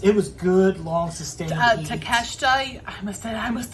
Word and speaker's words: Takeshita: Because Don Callis has Takeshita now. Thank you. All I can think of is because of MJF. All I can think of when I want to say his name is Take a Shitta.